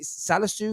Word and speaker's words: Salisu: great blocks from uh salazu is it salisu is how you pronounce his name i mean he made